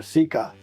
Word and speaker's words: Sika: Sika Primer, improve your pronunciation. Sika Primer, Sika.